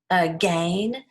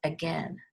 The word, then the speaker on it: again: It doesn't say its name. It's again, again, almost like a short I, again. And it does have a short I sound, but it's really a schwa.